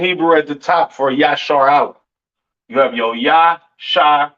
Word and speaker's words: Israel: And Israel is not pronounced Yasharal. It's not pronounced Yisrael in the Hebrew. That is not how you pronounce Israel. Israel is pronounced Yashar Allah.